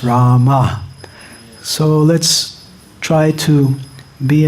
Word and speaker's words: Rama: So yes, pronunciation is important, and sometimes devotees say, well, Bengalis pronounce Ramo. But Srila Prabhupada was also born in Bengal, and Srila Prabhupada pronounced Rama.